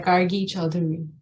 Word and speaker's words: Gargi Chaudhuri: We're honored to have Gargi Chaudhuri. Did I pronounce it correctly, your name? Yeah, Gargi Chaudhuri.